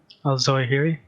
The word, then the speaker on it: Zawahiri: Zawahiri. Zawahiri? Is that how you pronounce it?